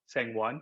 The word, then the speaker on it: Sangwon: Some people out of good intentions may try to attempt to pronounce my name in the Korean way, but I no longer identify myself with the Korean pronunciation. Only with family do I recognize that. So I call myself Sangwon or Sang.